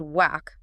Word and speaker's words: waqf: The word itself, whack. Sometimes you'll hear it pronounced whack.